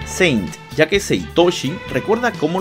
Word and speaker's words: Saint: Es por eso que decir cosas como Athena no Seinto está mal, es Athena no Saint en todo caso. Sí, ya sé que los japoneses lo pronuncian Seinto, porque así pronuncian ellos el inglés, pero nosotros decimos Saint Seiya, no Seinto Seiya.